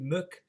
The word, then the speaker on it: Mac: is son of, and it's spelled obviously Mac MAC Muck, and basically Nally itself, son of the poor man, is what it means actually.